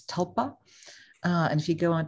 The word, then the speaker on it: tulpa: it's quite amazing you spell it a little bit like tulip but it's tulpa and if you go